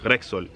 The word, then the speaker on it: Rexon: Like I know a little boy named like Rexon, like R-E-X-O-N, but they pronounce his name like Rexol.